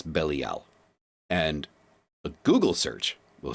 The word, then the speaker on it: Belial: saying it irks me it's not B it's bellal and a Google search will show you that